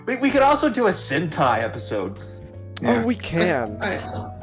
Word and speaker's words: Sentai: So let's just get to Well, real quick, Sentai Chelsea. I'll even spell it out for you. I got it. It's like hentai, but with an S instead of a heh sound, Chelsea.